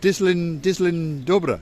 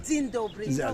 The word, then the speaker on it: Dzień dobry: I should say, how do you say it? Dislin Dobra. Dzień dobry. Dzień dobry.